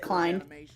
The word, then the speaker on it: Klein: If they put Klein or Clean, I don't know. Because these fellas have their hands in working on. You're supposed to pronounce it Klein.